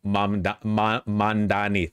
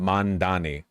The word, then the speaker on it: Mamdani: They consistently mispronounce his name fucking hell. Yeah, they keep doing the Cuomo MAMDANI thing. I feel like MAMDANI is easier to say than MANDANI.